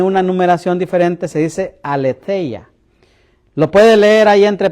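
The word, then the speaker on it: ἀλήθεια: dice y tiene una numeración diferente, se dice aleteya. Lo puede leer ahí entre paréntesis.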